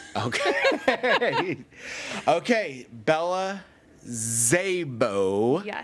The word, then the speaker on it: Szabo: Zaybo. Got to put the hands Yep, there you go. We don't pronounce the S, so it's a hard Z.